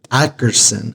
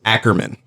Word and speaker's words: Ackerson: They always mispronounce it. How do they normally mispronounce it? Ackerman. I don't know where they get it. It's Ackerson, and they get Ackerman.